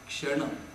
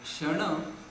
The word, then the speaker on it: kshana: Going to this new terminology, it is called as kshana.